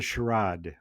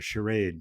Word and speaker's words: charade: It's a it's a sherad or a charade depending how how you want to pronounce it.